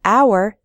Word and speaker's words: hour: H H sound but in the word hour the H is silent so we say an